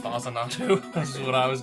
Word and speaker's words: Faxanadu: Faxanadu. Fazanatu. This is what I was guessing it was pronounced The as.